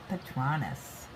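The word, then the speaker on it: Patronus: Quidditch World Cup and the stake patronis.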